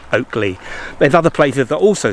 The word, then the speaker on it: Ockley: if there were in the modern pronunciation from the old anglo-saxon is oak lee oak as in oak and lee l-e-a oakley there's other places that